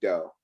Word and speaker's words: Dough: and started the company Dough. And that's spelled D-O-U-G-H, just like, kneading dough for all those bakers out there.